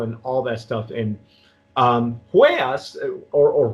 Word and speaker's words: Huellas: And Huellas, or Huellas, I try not to pronounce the H. The H is silent.